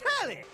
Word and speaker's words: Telly: The name's Telly. Rhymes with Nelly. Like, whoa, Nelly, did you know Telly offers 5,000 channels like an endless deli?